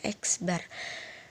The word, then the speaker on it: X bar: Itu dibacanya X bar.